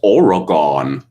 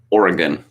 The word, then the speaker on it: Oregon: washington state with seattle that's not how it's pronounced or another one of my favorites oregon nope the natives call it oregon of course my first reaction was uh when